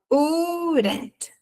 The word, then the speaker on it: wouldn't: Ó, repara que ele sobe e desce, eu falo urent urent com u bem forte.